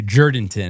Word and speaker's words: Jourdanton: So going into Jourdanton is how you pronounce it.